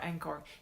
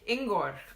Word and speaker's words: Ingor: Did you say his name was Angor or Angkor? Ingor. I-N-G-O-R. Ingor.